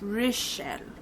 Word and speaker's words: Richelle: She even wrote how to pronounce her name. It's Richelle. So shout out to you, girl.